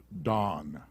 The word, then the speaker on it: Dan: 30 verse 6 dan it's pronounced dawn uh he's the fifth